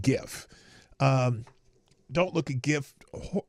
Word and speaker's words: GIF: you know just is GIF is a hard G well I know because the G stands for graphics but I there's still